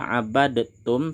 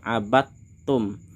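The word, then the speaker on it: عبدتم: Di sini bacanya tidak abadtum tapi langsung kita masukkan abattum.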